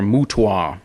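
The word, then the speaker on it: MOOTW: than War uh or for military acronym types M ootw or muta as they seem to like to pronounce it this includes a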